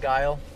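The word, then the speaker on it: Geil: It's G-E-I-L, but it's pronounced kind of like that, though, huh? Like Guile.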